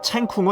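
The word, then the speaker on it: 成功: 해군의 주력 감정의 이름 챙 쿵 은 바로 대만의 영웅 정성공 의 성공을 중국어 식으로 발음한 것이다 정성공 의 대만의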